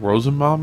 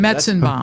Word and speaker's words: Metzenbaum: There's, I don't know how to pronounce it. It starts with Sounds like a Civil War battle, but isn't. like Rosenbaum or something. Oh, nice. We'll give you that one. Metzenbaum.